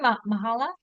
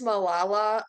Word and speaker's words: Malala: Mahala? I believe it's Malala. I don't know Malal. if I'm Okay. not 100% if that pronunciation is correct, but I think that is how you say it.